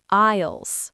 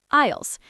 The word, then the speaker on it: aisles: Be careful with this word, everyone. The S is silent. It sounds like aisles. Is aisles.